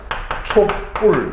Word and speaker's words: 촛불: 촛불 이런 식으로 발음이 돼서 이 경우에는 이 촛불의 표준 발음은 이 촛불, 디귿 받침의 촛불도 표준 발음이고 디귿 받침이 없는 이 촛불도 표준 발음이다 라는 것도 좀 여러분들이 좀 알아두셔야 될 사항이다 라고 좀 인지를 하셨으면 좋겠습니다.